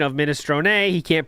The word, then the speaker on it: minestrone: It's a silent E, just like provolone.